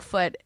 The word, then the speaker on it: Foote: I have a friend who lives over in London named Greg Foote, Foote, and he is a Greg Footy. I believe it's Greg pronounced Foote. Footy. It's Foot.